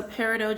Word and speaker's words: peridot: out all right so peridot just came out pronunciation is your is your own preference on how you want to pronounce that but that's how I pronounce it amazonite oh and